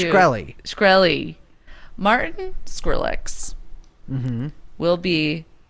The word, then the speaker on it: Shkreli: know get this martin how do you say his name i always say wrong when you make fun of me shakarelli shakarelli no it's shkreli shkreli martin skrillex will